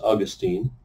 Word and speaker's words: Augustine: Latin Catholic theologians whose name was Augustine, sometimes pronounced Augustine.